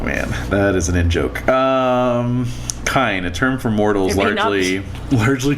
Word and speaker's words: Kine: Kine, a term for mortals... Kine. It's pronounced kine.